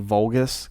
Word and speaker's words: Vulgus: Kraken valgus his name may be reference to vulgus Capcom's first game very good you said it